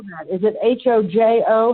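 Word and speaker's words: Hózhó: so how do we spell that is it h OJ o Hojo how did we spell that h h o z is in zebra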